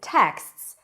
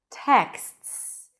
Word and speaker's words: texts: Because texts has only 1 vowel. Texts. Texts. So even though it's a long word with a lot of sounds, it's still 1 syllable.